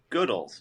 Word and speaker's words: Goodles: So, interestingly, you said goodles. The we actually say goodles just because we want to emphasize the good in the name, but my official answer to how do you pronounce it is this.